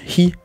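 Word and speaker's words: 火: Ça se prononce aussi hi.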